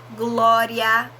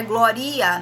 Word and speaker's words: glória: Glória, o A, né? Não é gloria, não, é glória.